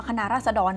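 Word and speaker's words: คณะราษฎร: ขึ้น มา ชื่อ ว่า คณะ ราช ค่ะ ซึ่ง จริง ๆ อ่าน ว่า คณะ ราษฎร นะ แต่ ว่า เพื่อ ความ คุ้น ป่า ขอ อนุญาต เรียก คณะ ราษฎ ต่อ ไป นะ คะ ก็ จะ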